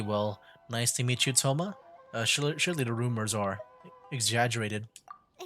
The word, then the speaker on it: Thoma: This is Toma, a trade partner Or that I've Toma, gotten they to know don't recently.